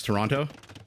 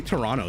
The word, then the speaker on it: Toronto: mirc handles like how how I pronounce Toronto T I say Toronto sometimes sometimes I pronounce the last two T's sometimes I don't depends how dramatic I feel like being okay now you guys